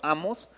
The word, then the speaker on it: Amós: toda la serie diciendo Amós y el libro se llama Amós. Ahí está el acentote. Es más, le dije a David, ponle el acento porque no lo tiene y yo lo llevo pronunciando mal.